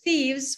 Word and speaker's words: thieves: them it's sieves sieves here no theos so thieves were caught by the police good easy number